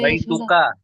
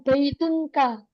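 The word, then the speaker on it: بيتك: Iya yang tadinya baitunya Nah nanti teman-teman cara baca baitunya ggak boleh ditanwin Enggak boleh kita bilang baitunka enggak enak ya kita ba kita baca baituka baita nah ini teman-teman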